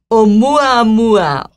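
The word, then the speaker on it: ʻOumuamua: Oumuamua.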